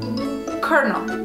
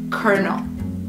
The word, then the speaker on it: colonel: So even though it's spelled with an L, we pronounce the first L like an R. Colonel.